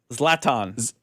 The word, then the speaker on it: Zlatan: How do you pronounce his name again? Zlatan.